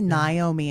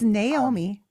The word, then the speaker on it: Naomi: People call me Naomi all the time. But it's Naomi. which is also a popular name in Japan.